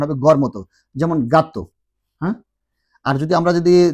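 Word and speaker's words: gato: যদি জি এর পরে ই এবং আই থাকে তাহলে এটা উচ্চারণ হবে খর মতো, আর যদি না থাকে তাহলে উচ্চারণ হবে গড় মতো।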